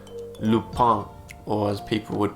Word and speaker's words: Lupin: on netflix yesterday it's a french show called lupang or as people would pronounce it from where i live lupin inspired by the adventures of arsene lupa gentleman